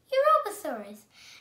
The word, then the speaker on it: Europasaurus: europasaurus i'm going to tell you how to pronounce it you ro pa sor us europassaurus and this dance was a georgetic dinosaur and